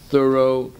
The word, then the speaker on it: thorough: So the words though, through, thorough, they look a little bit like, they have that OU in it. But you pronounce the OU differently.